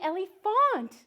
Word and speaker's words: Elephant: me correcting you because we actually say my name Ellie the Ellie font oh not at all